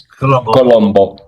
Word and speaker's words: Colombo: I think it's Colombo. It is. Yeah, okay. Now, in Italian in Spanish it's Colón. Colón.